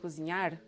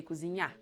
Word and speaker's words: cozinhar: in their infinitive form, the last syllable is stressed and the R is silent. So you don't say dirigir, you say dirigir. You don't say treinar, you say treinar. You don't say cozinhar, you say cozinhar.